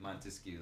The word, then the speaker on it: Montesquieu: Montesquieu, like the 3 syllables.